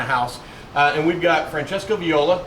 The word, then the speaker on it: Francesco Viola: minute from my house uh and we've got Francesco Viola correct that's correct yeah perfect pronunciation thank you I looked it up watched the video I was I was watching it and Dan Campbell says Francesca um so we're here at Luca Mariano's location